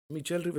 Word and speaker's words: Michel Rivera: I think Dominicans pronounce Michel Rivera. That's how he says it.